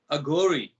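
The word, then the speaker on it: Aghori: Agori.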